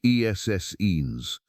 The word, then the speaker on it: Essenes: The Roman naturalist Pliny the Elder had described a community of a group called the Essenes, pronounced Essenes, living in isolation on the western shore of the Dead Sea, without women, without money, renouncing the ordinary pleasures of life.